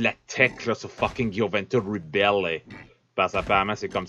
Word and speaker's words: Gioventù Ribelle: tu l'appelles, le jeu, c'est pas le Gioventus Rebel comme je t'ai implé jusqu'à date, c'est Gioventus Rebel, eh? C'est ça, il y a une prononciation avec le E-L-L-E à la fin.